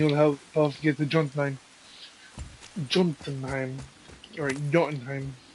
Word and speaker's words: Jotunheim: In repayment, he will help us get to Jotunheim, or Jotunheim. They pronounce the J's like Y's, but I've heard Jotunheim at one point.